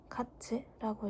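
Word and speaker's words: 月: 일단 월은 가츠라고 있습니다. 가츠.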